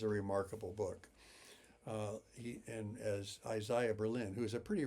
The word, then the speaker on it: Isaiah: And Isaiah Berlin, and he does pronounce it Isaiah, not Isaiah, said Herzen was the